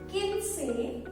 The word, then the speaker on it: quince: 15, quince, quince. The Q here is pronounced with the K sound. So 15 is quince.